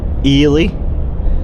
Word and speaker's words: Ely: We're on our way to a couple of farms today in uh Elely, even though it's spelled E L Y, which should be El Ei or Elely.